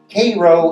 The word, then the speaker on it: Cairo: a town down there called Koo Illinois spelled just like Cairo in Egypt and the southern tip